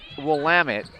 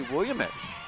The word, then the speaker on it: Willamette: yeah ask know everything I think some people probably think it might be William it but yeah Chris sabato